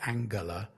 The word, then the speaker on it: Angela: to to start by referring to Angela I she pronounces it Angela Merkel who a few